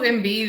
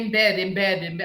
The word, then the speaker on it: Embiid: Dude, we're watching the Olympics this summer with our nephew, and he keeps saying embed.